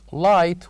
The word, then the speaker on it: light: silent and we have number seven light where G and H are silent and number eight technician